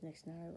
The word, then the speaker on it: Nixienire: On YouTube, which is the current name right now, is Nixienire Random Video Stuff. And there you go. That's how you pronounce the channel's name, because I know a